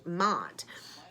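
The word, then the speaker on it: Maat: a feather and that is what mott um that's the that's the concept we're representing mod and it is spelled m-a-a-t so it is like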